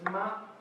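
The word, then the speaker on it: 妈: The meaning is mum, the pronunciation is ma, and it's composed of woman and horse, because a woman was riding on a horse.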